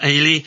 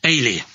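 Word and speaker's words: Eilidh: Grant Campbell aged 11 ay aged 8 um as it's a Scottish form of Helen and is pronounced like Haley without the h ah thank you for explaining to me ay are you there going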